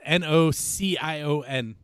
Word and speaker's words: Nocion: It's the word notion. But in Spanish. But in Spanish. Instead of, you replace the T with the C. With a C. It's like no C, N-O-S-E-E.